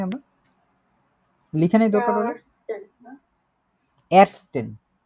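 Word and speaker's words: ersten: এরস্টেন, আর্টসেন না, arts arts হচ্ছে doctor, আবার ওটা অন্য জিনিস হয়ে যায়।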